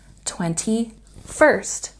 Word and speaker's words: 21st: So this number is pronounced 21st with a stress on the last syllable.